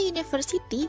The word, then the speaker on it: university: diucapkan seperti huruf konsonan contoh university di sini kata University berawalan huruf u Tapi ketika diucapkan dalam bahasa Inggris bunyinya menjadi University pengucapan huruf awalnya adalah Ye bukan uh yang mana huruf